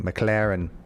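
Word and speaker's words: McLaurin: a receipt oh god mclaren's still there i do have mclaren above i think lauren think of it kyle allen above them all mclaren mclaren mclaren like lauren there's a you in there there's i know i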